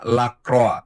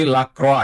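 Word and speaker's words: Lacroix: Kemarin juga ada eh inputan mengenai penyebutan nama Lakroa. Jadi bukan Lakro, bukan Lakroi tapi Lakroa.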